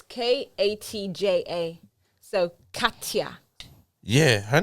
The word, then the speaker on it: Katja: Yeah, same I way it's pronounced. had a girl called It's Khadija. before. Katja. No, it's Katja.